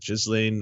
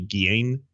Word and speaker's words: Ghislaine: I was being silly when I said Ghislaine. The correct pronunciation in French, I believe, would be Ghislaine. That would be how you pronounce it.